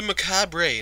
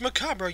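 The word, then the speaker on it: macabre: did you C stories of the maab last night it pronounced macabra you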